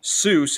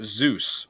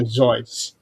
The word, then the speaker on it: Seuss: In uh in the meanwhile, he's not called Dr. Seuss. He's called Dr. Zeus with a Z. Well, it's actually Dr. Zoe. Or Zoe. Yeah. Did somebody say my name? Yeah, that's that's people keep making an arrow on is Dr. Zoits.